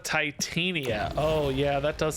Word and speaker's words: Titania: idea I like Baron I can't handle when people say tatanya instead of Titania oh yeah that does